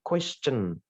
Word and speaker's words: question: Sama kayak question, bukan question itu, question. Ada suara cen itu, question.